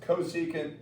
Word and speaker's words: cosecant: These would be pronounced cosecant seeant and co-angent.